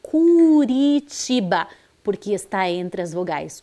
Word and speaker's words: Curitiba: Curitiba como que é aqui a leitura dessa sílaba é Branda é fraquinha C Curitiba porque está entre as vogais u e a